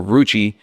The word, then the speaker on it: Roochii: So Roochii, I respelled it as ROO, kind of like Google, CHII.